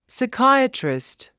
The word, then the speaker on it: psychiatrist: some things to remember p is silent at the beginning of a few words listen and repeat psychology pneumonia psychiatrist the word cupboard is